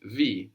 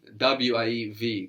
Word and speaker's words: wie: W-I-E-V, good. How? W-I-E. So I-E gives us that E sound, like in D, the feminine word for the.